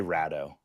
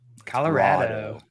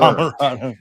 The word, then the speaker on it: Colorado: No, but you've been lying to them about how you pronounce Colorado. I do. I say Rado. Colorado.